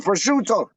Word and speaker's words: prosciutto: it prosciutto or is it prosciutto prosciutto it's prosciutto like like what they might say it might be like prosciutto but a real like a real you know